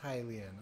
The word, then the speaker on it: Hylian: have a moment to talk oh it is pronounced hylian oh no okay aha a hylian yes i